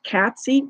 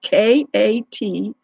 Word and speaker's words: Katsy: It's Katsy, Katsy, like Patsy, but with a K, Katsy3333 at Gmail.